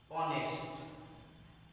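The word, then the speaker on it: honest: তাহলে hour, air, এয়ারেস, honourable, and অনেস্ট। আমরা কিন্তু হনেস্ট বলি না, কি বলি? অনেস্ট। এই যে উচ্চারণ, শিক্ষার্থী বন্ধুরা একটু লক্ষ্য করি, আমরা যদি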